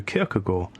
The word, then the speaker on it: Kierkegaard: Instead, long passages are drawn from Luther or Calvin, and the text is peppered with references to Kierkegaard. Note how I pronounced it right there.